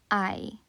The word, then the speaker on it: hay: So the single Spanish word I, as I said, pronounced like I, means there is, there are, and it also means the questions of is there or are there?